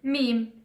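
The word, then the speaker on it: ميم: The last letter for today, it's written under the line, which is meme. M is easy to pronounce because also English it has M.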